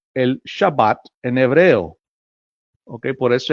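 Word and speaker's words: שבת: de reposo o el Shabbat en hebreo. Okay. Por eso es que le puse título, el Shabbat. Eh, se pronuncia Shabbat en hebreo, pero al transliterarlo a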